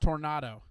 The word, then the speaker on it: tornado: that I believe was, it's pronounced tornado. tornado. When they had a It's tornado, yeah.